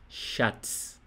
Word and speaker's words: Schatz: Chá, tipo chá de bebê. Chá e depois tz. Schatz.